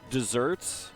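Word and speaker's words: deserts: Like just desserts. It's not desserts like the sweet food. It is spelled like desert, but it's related to desertion.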